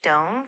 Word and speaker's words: Dom: So, Dom is pronounced like Dome, kind of short and formal.